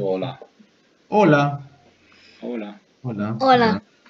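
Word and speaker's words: hola: Оля, да? Да? Оно не читается как хола, как на английском, а оля. Просто Ola. Пишется, но не читается. Оля.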